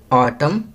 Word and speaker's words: autumn: Second, ऑटम, यहाँ N silent letter आएगा.